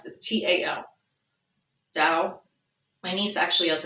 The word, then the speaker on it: Tao: They see you as someone who really is balanced with this, I always, how to pronounce this, T-A-O, Tao.